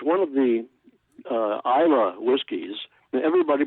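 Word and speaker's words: Islay: one of the uh Isa whiskies everybody pronounce it is it's not it's i l a y but you know like most Gaelic words they're not pronounced like they look but it's Isa IA is an island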